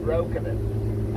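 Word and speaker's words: Breukelen: Properly, by the way, it should be pronounced Broekenen, as in Dutch for broken land.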